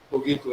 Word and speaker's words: cogito: Ele pegou a sentença de Descartes, cogito, a pronúncia correta em latim é cogito ergo sum, penso, logo existo.